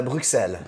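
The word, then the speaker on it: Bruxelles: and then theen yeah the French it's a brel b r u x e l l e s the way I pronounced it if you're like from brel I probably just said it wrong because French say it like brel with the X there whereas people from Brussels tend to say it more like Brussel brel so it has less of the X sound to it less of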